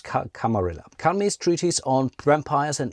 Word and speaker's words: Camarilla: I think there are various ways how to pronounce it. I think officially it's Camarilla. I could be wrong. I have seen Camarilla. Let's use Camarilla.